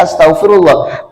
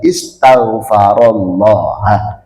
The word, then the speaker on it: istighfarullah: Nah, karena yang baca itu dibaca astagfirullah, padahal hadisnya itu bacanya istighfarullah.